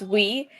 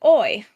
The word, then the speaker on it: oui: yeah, it's pronounced "we," but the way it's written is OUI. And me being oblivious to the fact it's written OUI, I pronounced it oi That's sad.